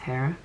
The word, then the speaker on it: Jera: Hera in the reverse or Jerara, but it's pronounced Hera. Not like Ron Burgundy with a soft J, but it's that's one pronunciation of it and that's the one that I know.